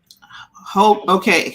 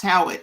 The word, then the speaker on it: Haughwout: Howgout. Haughwout. Does not it's sound pronounced familiar. Howitt. It's pronounced Howitt. Oh, I can't.